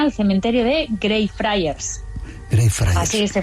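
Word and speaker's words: Greyfriars: Grey Fryers, así se pronuncia.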